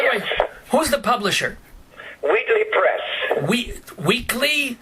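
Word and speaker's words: Wheatley: way who's the publisher weedly press we weekly spell it please w h e a t l e y oh like wheat wheat it's it's it's sort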